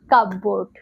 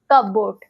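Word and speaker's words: cupboard: কাপবোর্ড। কাবোর্ড। বাট এটা miss pronounce.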